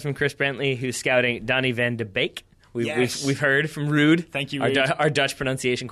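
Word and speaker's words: Donny van de Beek: have a go it Donny van deake yeah it's well he just said it's bake pronounced like baking I just want to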